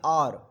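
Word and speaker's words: hour: Unit के पहले आप लगाएंगे क्या, तो आप कहेंगे आवर, है ना, इसको हावर नहीं बोलते हैं, इसको आप बोलते हैं आर, इसको क्या बोलते हैं, और, है ना।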